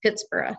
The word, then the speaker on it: Pittsburgh: And as a side note, Pittsburgh is thought to have been named by a Scot, so it was originally intended to be pronounced Pittsburgh, like Edinburgh.